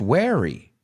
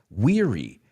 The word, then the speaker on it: weary: which is interesting because it has the word where you are but it's not pronounced wary it's pronounced weary i'm feeling really weary